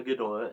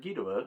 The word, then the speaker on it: Ghidorah: Anyways, I talked about how Gdora and Gidora are both acceptable uh pronunciations.